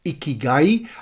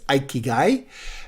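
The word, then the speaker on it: 生きがい: By the way, these four elements are actually put together in a Japanese concept which many Westerners pronounce Ikigai. I believe the correct Japanese pronunciation is Ikigai.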